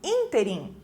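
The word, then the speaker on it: ínterim: a palavra interim interim tem acento agudo lá no primeiro I né então a pronúncia é mais forte nesse in interim e não interim né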